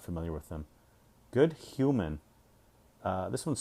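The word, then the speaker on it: Hyouman: is spelled h y-o-u-m-a-n so it's like good h you as in like you're a good person men uh men women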